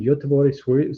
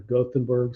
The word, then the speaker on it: Göteborg: This year is in Göteborg, Sweden, or Gothenburg, Sweden, the English pronunciation.